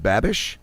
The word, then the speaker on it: Babish: I'm hoping I pronounced the other name right. Jeremy Leary and Blanche Babish team up to go against... Babish, yep, you got it.